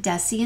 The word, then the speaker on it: deci: desie cinti and Millie remember that the Soft C sounds are to the right desie and cinti they come together and the hard K sounds are to the left kilo and deca also don't forget that